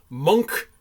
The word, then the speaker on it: Munch: The monk painting of the Scream on the front there. No one's going to say I mispronounced it. Nice. It looks like Munch, but it's actually pronounced Monk.